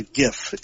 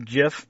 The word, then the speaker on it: GIF: or is it a gift how do you say that I think it's properly pronounced jiff but we all say gif because we're Americans and we're it's stubborn all right well whatever